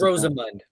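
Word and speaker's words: Rosamund: what's her name Al Roseman Pike it's rosemund and and I might be saying it wrong but there's an a between the Roseman Rose yeah Roseman Pike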